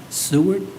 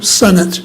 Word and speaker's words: Senate: you Miss Wy the next name I believe is seart SE did I pronounce that right no okay too close I forgive you tell me what it is Sir my name is senate senate yes I live at 784